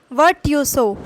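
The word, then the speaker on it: virtuoso: इसकी प्रोनाउंसिएशन देखिए, वर्टुओसो, वर्टुओसो, वर्ट्यूसो, वर्ट्यूसो, ऐसे बोलेंगे इसको, ठीक।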